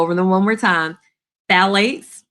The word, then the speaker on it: phthalates: Phthalates, the P is silent, but it starts with the P.